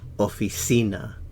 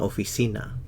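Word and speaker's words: oficina: in an office in officina in an office in Una officina stress on the U una stress on the C officina in unaa officina again natural stress una officina in an office in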